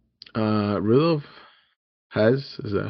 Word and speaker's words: Rudolf Hess: Uh Rudolf Hes. Is that how you say it? Rudolph Hess.